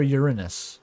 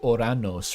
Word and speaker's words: Uranus: Who is Sailor Uranus? I mean Uranus. I mean your butthole. I mean Uranus. I think the more original pronunciation is like Oranos, right?